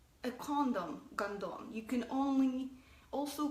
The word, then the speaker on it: гондон: The word is гондон, and I'm going to spell it out for you too. Гондон. Or in English, it will be gone-don. It's kind of like gone and done without the e's.